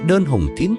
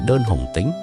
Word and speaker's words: Đơn Hùng Tín: So, who was Đơn Hùng Tín really? Let's decipher this character together with HuDuVi Traditional Music! Đơn Hùng Tín – originally named Thiện Hùng Tín, often mistakenly pronounced as Đơn Hùng Tính in folklore – is one of the most